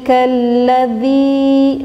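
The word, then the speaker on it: الذي: Maka kita menjawabnya diidghamkan atau kita dimasukkan menurut bahasa Indonesia.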